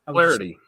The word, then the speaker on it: Flaherty: How do you say it, Tim? Flaherty. Yeah. Flaherty. See, I got it right. See, I thought I was being too southern there. Flaherty. 1 syllable.